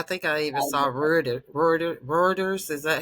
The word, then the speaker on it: Reuters: I think I even saw Ro Reuters. Is that how you pronounce it?